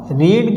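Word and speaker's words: read: यूज़ करो, इज, और रीड की थर्ड फॉर्म सेम होती है। अब यहाँ तो एस लग रहा है लेकिन थर्ड फॉर्म में एस नहीं आएगा, रीड, सेम स्पेलिंग है, इसलिए रेड पढ़ते हैं।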